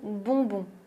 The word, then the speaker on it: bonbon: Le prochain mot est assez rigolo et très bien si tu veux t'entraîner à prononcer le son on. Voyelle nasale on, c'est le mot bonbon.